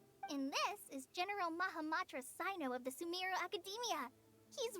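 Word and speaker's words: Cyno: there's no need to use my full title Sino is fine or sir if you absolutely must or see now how it's supposed to actually be pronounced capacity just call a company on her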